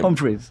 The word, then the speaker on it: Humphries: Humphreys.